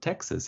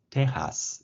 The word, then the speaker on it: Texas: words like Mexico and actually it's not Texas it's teas in Mexican Spanish are pronounced a little